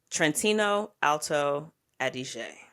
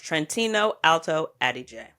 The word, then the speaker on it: Trentino Alto Adige: Pronounce it appropriately. I want to say, let me see if I get it right. Trentino Alto Adige. Let's listen to the man. Close enough. Trentino Alto Adige.